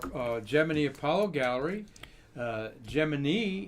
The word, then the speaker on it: Gemini: gemini apollo gallery uh gemini is how nasa said to pronounce it like jiminy cricket back in the day